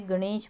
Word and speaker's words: गणेश: की अशुद्धियां जैसे हमने गणेश बोला गणेश ठीक है ना गणेश में ग के बाद ण की आवाज आ रही है तो ण पे ए की मात्रा आएगी गणेश आक्रमण अब आक्रमण ण